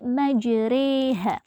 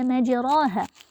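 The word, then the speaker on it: مجراها: kasrah sekitar du/3nya Nah jadi bacaan yang awalnya dibaca maj ha itu dicondongkan menjadi majreha Nah jadi cara membacanya waqu fiha Bismillahi Maja jadi kata majra ini tidak lagi Dibaca majroha tapi dibaca waqu fiha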